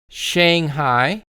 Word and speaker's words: Shanghai: Then we have the city Shanghai. So make sure you are saying shang shang shang. So again shanghai shanghai.